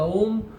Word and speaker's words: Om: The Om word is made up of 3 syllables, A, U, Ma.